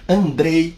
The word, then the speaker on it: Andrzej: do mentor do mestre Andrei vaida se escreve andreseje vagina né SJ com som de i então estamos falando de André e vaida polonês e